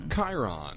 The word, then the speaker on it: Charon: I think it's Sharon. Well, it's spelled. It's. I've heard people pronounce it Chiron.